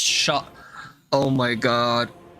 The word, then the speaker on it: Skadu: Skadu comes from Old English and is pronounced shot.